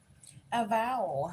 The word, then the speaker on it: avowal: Oh, I said it wrong. A vowel. It sounds like a vowel.